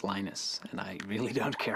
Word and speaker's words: Linus: speak Finnish it's Lino's when I speak English its Linus and I really don't